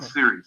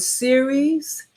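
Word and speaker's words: Ceres: there what what is are you saying the word series series burnout series it's spelled CER yes okay you can google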